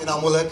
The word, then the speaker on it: इनामुलक: एंड a little correction, मेरा नाम बड़ा बिगड़ता जा रहा है. मैं शहर में नाम कमाने आया था, कभी स्पेलिंग और कभी प्रोनाउंसिएशन. मेरा नाम इनामुलक है एंड आई एम नॉट a tourist. My name is इनामुलक एंड आई एम नॉट a tourist, so please make a correction.